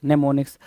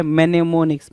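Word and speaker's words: mnemonics: एन आई सी एस नेमोनिक्स नेमोनिक्स लिखोगे लेकिन पढ़ोगे क्या अच्छा लिखोगे मेनेमोनिक्स मेनेमोनिक्स लिखोगे लेकिन पढ़ोगे क्या नेमोनिक्स तो इस चीज को जरा ध्यान देना ठीक है एम साइलेंट हो जाता है तो नेमोनिक की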